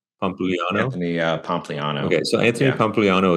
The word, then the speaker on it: Pompliano: Anthony Pompliano.